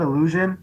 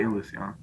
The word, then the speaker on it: Ilusión: It's spelled Illusion, but they say Ilusión.